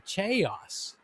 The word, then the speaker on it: chaos: looks like it should be pronounced chaos or chaos but it's pronounced chaos so here we have a challenge